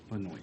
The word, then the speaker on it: Benoist: going to talk about Melissa Beno and that's how I've heard her last name pronounced and that's what we're